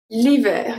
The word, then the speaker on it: l'hiver: This one is very interesting. Because ER at the end usually makes the sound E. But sometimes we are going to pronounce the E and then the R and then the E before the R. It's going to be a R. L'hiver, ver.